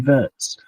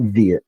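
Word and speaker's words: Wirtz: something that I think Florian Vertz or Viet, it depends which German you ask. Florian Viet pronounces it Viet. So I'm going to go with that.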